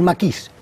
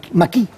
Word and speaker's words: maquis: Y se coge este nombre, a un individuo llamado maquisard, el conjunto es el maquis, el maquis, lo que pasa es que la S los franceses no la pronuncian, la S final, ¿no?